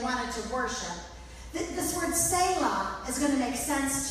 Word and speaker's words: Selah: Now, I call this Bible study Selah. That's how you say it, Angel and Monica. Selah, in case you're wondering.